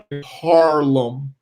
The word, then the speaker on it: Harlem: i say it so i have to very conscious of pronouncing the r harlem um uh but yeah